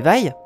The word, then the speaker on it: vai: Les vailles? Ah non, pas les vailles, hein. On prononce vaille. Faut bien insister sur le i très bas.